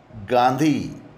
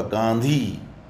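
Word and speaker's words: गाँधी: जैसे कि गांधी न आधा नहीं है यहाँ पर, वहाँ पर क्या होगा, गांधी चंद्रबिंदु होगा, गांधी।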